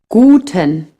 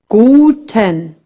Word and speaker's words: Guten: Another thing, in German, the U is pronounced U. A bit like in boot, but shorter. Guten.